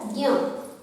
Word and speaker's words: ज्ञ: तो इसका वास्तव में इसका उच्चारण जो है वो है ज्ञ, इसका उच्चारण क्या है, ज्ञ। लेकिन समय के साथ उच्चारण करते करते जो उच्चारण करने की जो तरीका है वो बदल जाता है और अब इसका उच्चारण हम करते हैं ज्ञ, जबकि वास्तविक उच्चारण इसका होना चाहिए ज्ञ, ज्ञ।